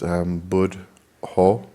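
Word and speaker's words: Buddho: One good one is Bud Ho. So it's the 2 syllables of Bud and then Do.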